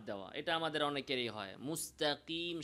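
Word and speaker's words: مستقيم: মুস্তাকিম স্বাভাবিকভাবে না বলে মুস্তাকিম, এই মাদের হরফ ইয়া উচ্চারণে জিহ্বাতে অতিরিক্ত চাপ প্রয়োগ করা। কিভাবে বলতে হবে? স্বাভাবিকভাবে মুস্তাকিম বলেন, নাস্তাইন, স্বাভাবিক, জিহ্বাতে আমরা প্রেসার দিব না।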